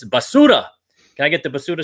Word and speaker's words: basura: Roll your R. I can't roll my R.